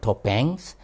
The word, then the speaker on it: topeng: So the word topengs come from the word tup, T-U-P, tup. Tup, they add suffix ang, becoming tupeng. Because of the, you know, change of pronunciation, they becoming topeng.